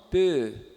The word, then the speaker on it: peu: É un peu, peu. Não é P, né? Não é un P, é un peu. Então tem que soar como E, só que com os lábios arredondados.